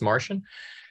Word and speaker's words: MaRCN: us the name Martian it's pronounceable as Martian and it's a collaboration